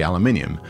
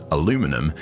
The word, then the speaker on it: aluminum: did you know that the way americans say aluminium aluminum is actually the original spelling and pronunciation from the guy who discovered the element what a crazy world